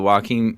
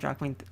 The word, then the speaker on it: Joaquin: It sounds like his name sounds like the word walking. Like yeah, true. That's the best way to pronounce it. With a Boston accent, you got to do. Joaquin Phoenix.